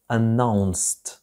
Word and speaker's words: announced: لاحظ نطق هذا الصوت هنا هو الت ليس الد. announced announced new procedures تدابير جديدة.